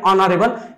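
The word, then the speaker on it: honourable: honest H silent भयो अनरेबल H silent भयो भनेको अर्थ के एच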